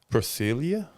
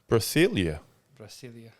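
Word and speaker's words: Brasília: what there your answer you're like pronouncing that Brazilia that's the capital of Brazil is what Brazilia Brazilia I did not know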